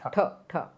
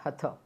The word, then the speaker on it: hatha: It is uh on pronunciation thing. It is ta like your marati. Marati t tut not hat.